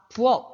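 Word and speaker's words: 부엌: 전부 다 기역으로 발음합니다. 그러니까 부억 이렇게 발음하는 거지.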